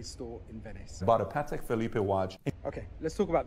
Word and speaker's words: Patek Philippe: in Venice about a Patek Philippe Watch okay let's talk about the first thing here it's pronounced Patek Philly not Felipe I'm not gonna finish